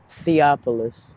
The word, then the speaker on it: Theopolis: you said and I'm sorry how do I pronounce your first name theopolis theopolis I like it it's Unique it's a